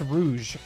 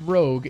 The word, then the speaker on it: Rouge: That's Rouge. Not Rogue. It's Rouge.